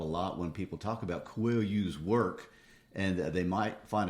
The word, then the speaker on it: Coelho: Coelho. Coelho. And that means rabbit, by the way. Okay. Yes, I think a lot of people would not know that. Coelho.